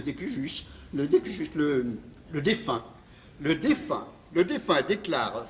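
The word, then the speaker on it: de cujus: Testament rédigé en langue anglaise, dûment signé, daté, paraphé, par lequel le découillus, en prononciation française, on dit le décujus, le défunt.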